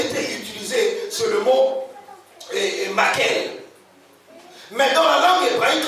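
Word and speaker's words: maqqel: J'aimerais au passage souligner que le mot bâton qui est ici, c'est le mot hébreu makel. Makel s'écrit M-A-Q-Q-E-L. Makel.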